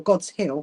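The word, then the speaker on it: Godshill: white and it's in a place called God's Godshield or God's Hill, however you what you decide you want to pronounce it. I would say God Shield.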